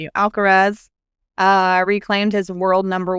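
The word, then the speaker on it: Alcaraz: Alarez. Thank you. Alcarez uh reclaimed his world number one with his US Open victory.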